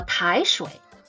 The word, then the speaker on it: 抬水: 水 The pronunciation for 台水 the first character with tone 2. 台 Same, the second character is still 水 with tone 3.